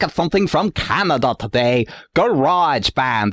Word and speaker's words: Grojband: something from Canada today Garage Band as I Now understand how to pronounce it it is a show